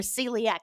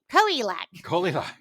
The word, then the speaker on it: celiac: pronounced i assume it's one of those latin c pronounced like s words like caesar it is they were